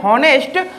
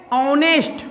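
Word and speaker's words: honest: अक्सर लोग इसको पढ़ते हैं होनेस्ट बट होता है ऑनेस्ट।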